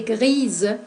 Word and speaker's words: grise: Gris pour les masculins et grise pour les féminins. La prononciation c'est différente. Pour les masculins, no pronunciamos la S, gris. Pour les féminins, on prononce le S y producimos el sonido Z, ese que es similar